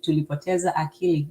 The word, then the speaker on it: tulipoteza akili: You see it, you say it. Tulipoteza akili. That's exactly it. Kiswahili is phonetic.